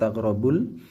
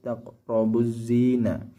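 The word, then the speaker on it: لا تقربوا الزنا: Kenapa tidak taqrabul? Kenapa taqrabuz? Karena di sini ada hukum al-syamsiyah. Nah, di sini ba langsung masuk ke zayin, tidak melewati alif lam. Jadi bukan taqrabul tapi taqrabuz zina. Alif lam syamsiyah.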